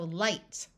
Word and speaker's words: light: One of the common letter combinations with a GH is IGH, which has the long I sound. So light, high.